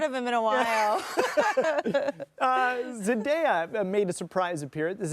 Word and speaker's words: Zendaya: Zendaya made a surprise appearance. Is it Zendaya?